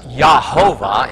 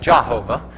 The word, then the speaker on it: Jehovah: So Elijah, or Eliyah, because there is no J in Hebrew, everything is pronounced as a Y sound. Thus, Yahovah instead of Jehovah in Hebrew, if they remembered how